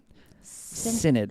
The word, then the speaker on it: synod: That's how you pronounce that. Synod.